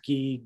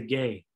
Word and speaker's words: gi: Ga gi gi. Or you can say gay. I say gay usually. Gi or gay. Gi is a most specific, most appropriate way to pronounce it.